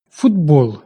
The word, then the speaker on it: футбол: Футбол. Глухий «т» під впливом наступного дзвінкого «б» перетворюється на дзвінкий «д».